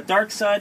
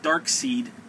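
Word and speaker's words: Darkseid: dark side number one i've heard people pronounce it dark seed hey and i get it it's actually if you technically think about it it's the last vowel so it would be the i would be the one that you would pronounce anyway uh this i got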